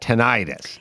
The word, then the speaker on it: tinnitus: tinnitus yeah or tinnitus i was told i was saying it wrong when i said they always called it tonight they just change it once everyone can pronounce it then they don't like the fact that lay people can pronounce their medical so then they change i mean dead grandma says it's tinnitus oh man my grandmother